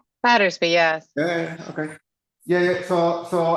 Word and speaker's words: Battersby: Is the more common pronunciation Battersby or Battersby? Battersby, right? Battersby, yes.